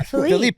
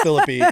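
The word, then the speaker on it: Phillippe: And I was like, you're saying your name wrong. Yeah. Filipe, right? Like I was like, it's got to be Philip. Brian Filipe and he was like, "No, it's Philippy."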